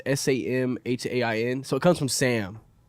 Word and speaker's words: Samhain: which is called, I think is how you pronounce it. It's Samhain. So it comes from Sam. What do you know about this, Sam? Absolutely That's nothing. fine. It comes from Samhain, and I think that's how you pronounce it.